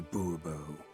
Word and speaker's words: Bourbon: the point whatever fine monsieur de bourbon the emphasis falls on the last syllable see now i'd rather